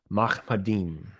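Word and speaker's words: מַחֲמַדִּים: So the phrase "altogether lovely" is pronounced Mahmadim.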